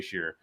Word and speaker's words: Shearer: I have a Twitter account where it's at JAYSHERER, Shearer. It sounds like Shearer, but it's just Shearer. You pronounce it Shearer.